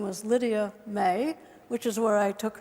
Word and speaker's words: May: her name was Lydia May, which is where I took her name as my nickname. In Swedish, it's actually pronounced Maya, but I didn't want to be confused with my lovely daughter, Maya.